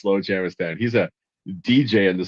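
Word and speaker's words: Slowjamastan: Valley, Slow Jamistan.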